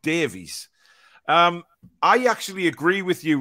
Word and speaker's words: Davies: It's Davies.